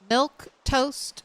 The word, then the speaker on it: Milquetoast: Uh, is your name pronounced milk? Yes, milk toast.